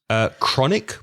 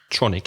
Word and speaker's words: chronic: Chronic pain, CHRONIC. Be careful of the pronunciation. It's not tronic, it's K. It's a hard K sound.